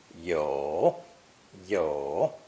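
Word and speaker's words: 友: friend in chinese and is also pronounced third tone yo yo with this new character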